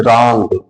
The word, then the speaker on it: wrong: हमारा W letter क्या होता है, अगर डब्ल्यू के बाद कभी भी आर लेटर आ जाता है हमारा डब्ल्यू साइलेंट हो जाता है एकदम से। जैसे WRONG, तो देखो डब्ल्यू के साथ आर आ गया तो डब्ल्यू साइलेंट हो जाएगा, तो इसको यहां से पढ़ेंगे रॉन्ग।